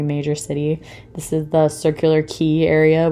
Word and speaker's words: Circular Quay: city this is the circular key area which is spelled Quay if you ever see a circular quay it's pronounced circular key so yeah it was